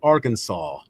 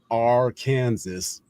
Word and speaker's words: Arkansas: unlawful to mispronounce the state name is strictly Arkansas, not R Kansas, etc.